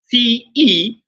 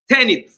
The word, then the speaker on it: tenet: Instead of tenet, like 10, then et. No, is tenant.